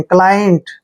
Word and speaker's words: client: देखिए सी के बाद एल आया है, जब भी सी के बाद कोई कॉन्सोनेंट आता है तो सी का उच्चारण कै करते हैं और LIE को यहाँ हम लाई पढ़ेंगे, क्या पढ़ेंगे, लाई। और N को आधा न और T को टे पढ़ते हैं, क्लाइंट।